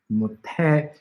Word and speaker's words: 못해: Since your mouth is shut, 못해, T is a more natural sound that is made through this, so that's why 못해.